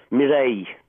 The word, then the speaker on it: Mireille: Is it Mireille? Mireille. Mireille, it's French. Yeah, and it was good